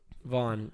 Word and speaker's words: Vaughan: Vaughn.